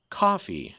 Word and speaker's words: Ko-fi: If you'd like to support the show, though, the Poe Show is now on Ko-fi. At least I pronounce it Ko-fi. I think it's also pronounced Ko-fi.